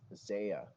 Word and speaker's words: Xaya: your game wallet and just to recap the pronunciations I've learned for these are Kai and Xia Xia okay so Xia and Kai not Xia and Qi I've been told I